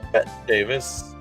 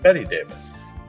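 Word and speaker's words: Bette Davis: This is Betty Davis, spelled like Bet Davis, but Betty Davis.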